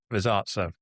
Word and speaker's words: Rosazza: Rosazza. So it's pronounced with the Italian way as an Amanda.